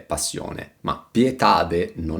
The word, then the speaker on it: pieta: nuovo tormento nuovi frustatori pieta con l'accento sulla e per fare rima con poeta e repleta come in 1 la